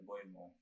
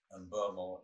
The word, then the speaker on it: Mbeumo: You saw that when he retrieved the ball and then sprayed it out to Mbeumo. That's how you pronounce it. I heard him say it. Mbeumo, and he sprayed it out to him, and that got us on the counter.